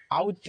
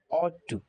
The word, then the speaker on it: ought to: এরপরে অট টু, এটা আমরা অনেকেই আউট টু বলে থাকি, আবার এটা শুনে নাও, এটার উচ্চারণ হবে অট টু, অট, OUGST, অট।